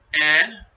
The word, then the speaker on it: Nut: I'll spell it to you. Here we go. Ready? N-U-T.